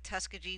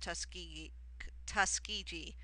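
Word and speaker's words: Tuskegee: or the founding the tusy normal and Industrial Institute actually that's pronounced Tusk tusi I always say it incorrectly uh 27 who was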